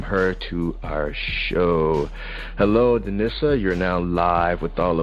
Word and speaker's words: Denisa: Hello, Denisa. You're now live with all of us. How's it going? I'm good. How are you? And it's pronounced Denisa.